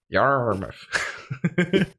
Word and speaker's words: Yarmouth: Yarmouth. Oh, there's lots of different places in Britain with just complicated pronunciations of words, like of these places.